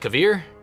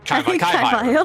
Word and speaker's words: Kaivire: Is that Kavir? Or Kavire? Kaivire. Kaivire. Gotta remember, it rhymes.